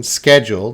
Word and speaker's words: schedule: saying it like American schedule the CH has that hard K schedule but British people they